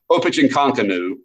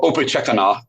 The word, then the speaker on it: Opechancanough: But Opechancanough or Opechekana, and I've had different Virginia historians pronounce it different ways, but we're going to call him Opie, all right, for the sake of this class.